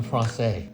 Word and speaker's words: Francese: chicken Francese, correct?